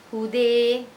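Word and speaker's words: هدى: Kalau imalah berarti cara bacanya hude, hada, hade, sa'a, sa'i. Itu imalah, sa'i.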